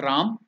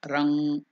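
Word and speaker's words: रं: given there in English it is not Ram it is r or R the sound nasal sound it should stay in the no nose or it can be coming up to ma Ram or rang so that is the be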